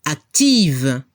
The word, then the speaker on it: active: El femenino active. Cambiamos la F por VE. Y a nivel de la pronunciación al femenino se debe escuchar el sonido V. Active.